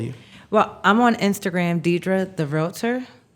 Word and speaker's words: Diedra: Well, I'm on Instagram, Diedra the Realtor. Diedra. Diedra. The, not the with, D-A. It's spelled properly.